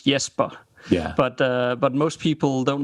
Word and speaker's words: Jesper: Well, in Danish it is Jesper.